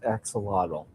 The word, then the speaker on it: axolotl: First off, is it pronounced axolotl?